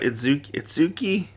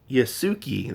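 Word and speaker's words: Yusuke: We don't really know much about Itsuki, or sorry, Yasuki. That's what his name is. Yasuki. I keep saying his name wrong.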